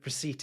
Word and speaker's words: receipt: Receipt is one of those words in English where a silent letter has been added by well meaning classicists desperate to show off its origin in Latin.